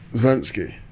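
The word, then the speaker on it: Zelensky: on with what's his name ziny is that pronounce it zalinski zalinski zalinski so with zalinski and um you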